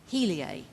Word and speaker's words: Heliae: Dan Simon, who is the president and CEO of Heliae Technology Holdings. Is that right, Dan? That's Did correct. I pronounce it right?